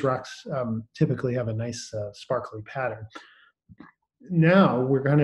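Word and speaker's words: gneiss: the rock is called nice it's spelled g-n-e-i-s-s but it's pronounced nice so that's uh let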